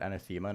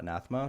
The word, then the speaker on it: anathema: Why does everyone call it anthemma, not anathema? because they don't know how to say the word. One person said an anathema and then everyone copycatted it because they don't know it's a real word.